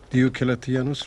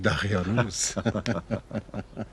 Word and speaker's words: دیوکلتیانوس: هنوز نمیتواند درست تلفظ کند. دیوکلتیانوس را میگوید دقیانوس.